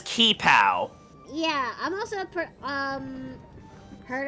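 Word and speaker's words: qipao: So is it pronounced Chi-Pow with like a CH sound? I think so. I mean, I've always pronounced it as Ki-Pow.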